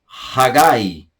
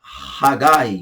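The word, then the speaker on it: חגי: Ageu, português, Hagai. Hagai, no hebraico.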